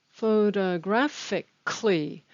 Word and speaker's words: photographically: the very beginning photographically photographically notice that the stress is on grad and that the why i'm sorry the a in kali is not pronounced so it's cli photographically then the next